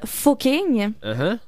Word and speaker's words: Fucking: ça existait il s'appelle le village fucking fu C mais ça se prononce Fing et il y a